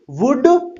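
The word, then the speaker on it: would: जो होता है ना वुड के अंदर जो एल है ये ये साइलेंट रहता है इसे वलड नहीं पढ़ेंगे वुड वुड जैसे वुड शुड कुड इनके अंदर सबके अंदर एल साइलेंट होता है साइलेंट वर्ड मैं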